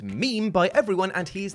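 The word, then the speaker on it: Mime: you would think would be mine but it's pronounced meme by everyone and he is the equivalent of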